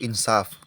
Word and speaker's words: insaf: kesalahan tulisan atau Jaan contohnya kata yang betul itu insaf kemudian eh ingin dibetulkan lagi menjadi insyaf akhirnya menjadi salah contoh lainnya sah menjadi